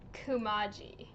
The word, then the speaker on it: Kamaji: But yeah, in Spirited Away, in English, they all pronounce his name Kumaji.